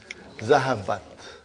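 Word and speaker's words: ذهبت: How do you pronounce it? Zahabat.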